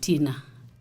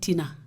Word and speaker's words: Thinah: Thinah, not Tina. Yeah, because, okay.